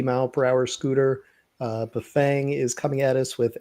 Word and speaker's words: Bafang: And do you say buffang or buffong or what's what's the right way to say that? For like a decade I said buffang and then I went to buffang and they all said buffong and I'm I've been